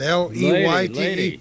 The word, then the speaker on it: Leyte: I don't even know how to pronounce it. L-E-Y-T-E. Leyte. Leyte. Is it? Leyte?